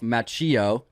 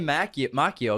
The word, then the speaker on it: Macchio: Macchio we were saying Macchio because that's how you say it in Italian but he pronounces it American style it's like the American Italian yeah the Italian CH is always a k sound so we said it